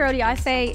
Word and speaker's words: Odiase: us today thank you for having me Dr oday is a pediatric therapeutic endoscopist and today we're